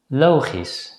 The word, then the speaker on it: logisch: However, if the letter combination SCH appears at the end of a word, it's generally pronounced as a voiceless consonant S. So in this case, the letters CH are silent.